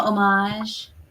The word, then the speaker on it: homage: Like a little homage.